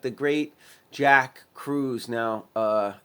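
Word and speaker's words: Kruse: i didn't know doctors like the great jack crews now uh it's spelled k-r-u-s-e and it's the krusc longevity center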